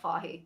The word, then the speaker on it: Fahey: It's Jeff Fahey. That's my answer. Is it not Fahey? Is that not pronounced Fahey?